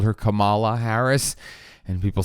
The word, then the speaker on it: Kamala: It kind of flows nice to say that more than Kamala, but again, that's her name, and as someone who